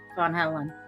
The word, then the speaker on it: Van Halen: no no no and it's not dan it's vaughn von helen fun god now i